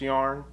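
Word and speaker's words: Järn: to me it's called it's j-a-r-n-e and i think it's pronounced yarn but like i said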